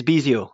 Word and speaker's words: Bisiot: How do you pronounce your surname? Bisiot. Bisiot.